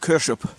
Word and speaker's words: Kershope: you pronounce it kers kers like k a r s e it's kers kers up